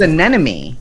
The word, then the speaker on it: anemone: Wait, I went to move his anemone that he just got because it's upside down.